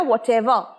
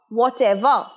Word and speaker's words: whatever: whatever বলবে না, লাস্টে র উচ্চারণ হবে না, whatever, whatever।